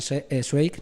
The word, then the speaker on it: Zweig: la del texto stefan zweig no nos sirve dicho bien la pronunciación es wake bye bye yo mi